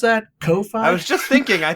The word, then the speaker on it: Ko-fi: I'm pretty sure it's Ko-Fi.